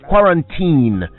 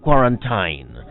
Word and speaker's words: quarantine: pronounce the word is quarantine not quarantine I believe the confusion comes from words with similarly spelled endings like turpentine or Valentines but it's actually more like gelatine or Christine says quarantine qu a